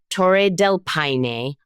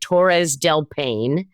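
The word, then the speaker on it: Torres del Paine: well first of all té Del Pine I was calling it Tores delpan and that is wrong um that is pro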